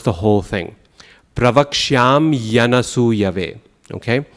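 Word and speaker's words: pravakṣyāmy anasūyave: That's crucial because if we add an E instead of the Y, we say pravakshami anasuyave, we have added a full syllable to the phrase, right? Count. Pravaksham yanasuyave. It's 8 syllables.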